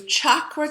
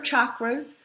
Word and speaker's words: chakra: You might have heard chakras. The common word is chakra, or the common pronunciation, but I learned from my yoga teacher the correct way is chakra, so I say chakra now.